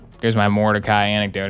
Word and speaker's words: Mordecai: about this game and they pronounced Mordecai Mordecai, and I was like, they don't even, in the game, it's not even said like that. They say Mordecai. Like, why are you saying it Mordecai?